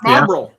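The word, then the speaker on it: Marlborough: Marlboro. Like the cigarettes, Marlboro. I think it's spelled Yeah. a little differently, but they're from England.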